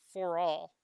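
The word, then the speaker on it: ∀: seen this symbol before that's just pronounced for all and that's how we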